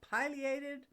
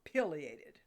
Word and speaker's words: pileated: considering the name's origin the bird is named for its red cap called a pileus which is a pointed